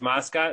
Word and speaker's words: Mascot: Mascot, that's pronounced correctly? You got it perfect.